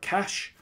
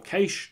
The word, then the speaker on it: cache: stored in a separate cache or case depending on how you want to pronounce that and that allows